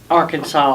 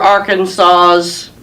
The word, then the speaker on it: Arkansas: on that was that at the end of the the name Arkansas you don't hear an S sound you hear it saying